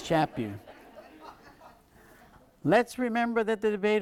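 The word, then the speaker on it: Chaput: chapw and he says when asked how to pronounce his name he said it's like slap you so it's chap you let's remember that the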